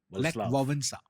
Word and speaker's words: Wałęsa: No, it's not Walesa. It's pronounced Władysław. No, Lech Wałęsa.